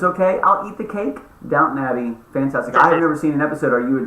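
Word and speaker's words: Downton Abbey: everybody that's watching this it's not Downtown Abby maybe you guys knew but I did not and now I'm upset you didn't tell me uh that I've been making this mistake for years and just allowing me to do it publicly uh but it's okay I'll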